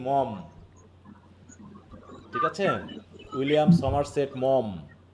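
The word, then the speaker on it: Maugham: মম। হ্যা বানানের ক্ষেত্রে হবে মোঘাম নাকি? আর উচ্চারণ করবা কি? মম।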